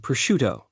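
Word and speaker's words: prosciutto: any other county in the country are pronounced Mudzerel, Galamad, and Pushcuto.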